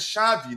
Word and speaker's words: Xavi: The first one reads uh Yurato and Xiai and Shavei not I've been told it's it isn't pronounced Shiai it isn't pronounced Zavi but shavei uh your to shave